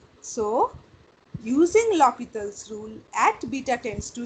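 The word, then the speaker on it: L'Hôpital: Actually, it is not L Hospital's rule, it is L'Hopital's rule. He was a French mathematician. Spelling is L Hospital, but a Yes, sir. pronunciation is L'Hopital.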